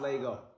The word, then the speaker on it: Laygo: go ahead take your first steps it's pronounced Lego see the customers love it laughs our